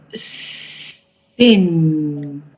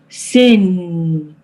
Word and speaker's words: sing: Sing. Okay, look at me. Sing. Sing. So Sing. you are pronouncing the word sin. You are pronouncing S-I-N, sin, instead of S-I-N-G, which is sing.